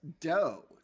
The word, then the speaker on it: do: They pronounced D-O as do as dough to reflect Applewhite's nickname.